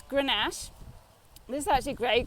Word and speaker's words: Grenache: another of those words we've learnt how to pronounce this is so it's Grenache this is such a great Grenache but you